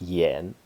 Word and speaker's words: 兗: But this is pronounced Yan, and it's a place in Shandong.